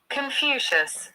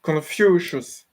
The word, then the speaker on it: Confucius: Confucius, how is it pronounced? Confucius. Confucius.